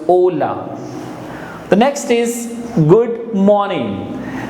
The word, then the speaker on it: hola: or hello in Spanish we say hola hola in Spanish H is always silent and therefore it becomes hola the next is good